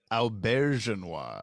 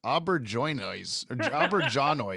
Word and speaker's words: Auberjonois: Auberjonois. I figured this out recently. Yeah. Okay. Right. Thank God James is on the podcast. Finally say his name correctly. As a kid, I'm not knowing any of this kind of stuff. I always said Auberjonois in my head, and I'm like, I know that's not right.